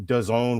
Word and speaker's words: DAZN: That was aired on DAZN, which rhymes with calzone.